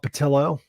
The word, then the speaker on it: Patillo: His name's Rob Patillo. If I can pronounce his name, it's kind of like Rob Potato, but it's Patillo.